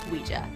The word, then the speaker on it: Ouija: of the beholder sidenote i used to call it the Ouija board but after I chatted with some experts in the talking board Historical Society I learned the proper way to say it is luigia story has it while